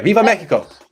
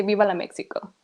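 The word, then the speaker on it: Viva México: Viva Mexico. Yes, with that tone. There you go. Viva Mexico. Right. Because I hate when they say Viva la Mexico. No, that's not how it's pronounced.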